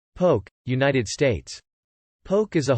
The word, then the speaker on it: poke: may also be added to the dish poke pronounced poke is often served as an appetizer or as